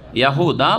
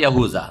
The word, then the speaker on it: ইয়াহুদা: বড় ছেলের নাম ছিল ইয়াহুদা বা ইয়াহুজা, জাল দাল কাছাকাছি উচ্চারণ।